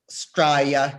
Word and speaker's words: Straya: Well, so I love Straya, not Australia, but it's 2 syllables.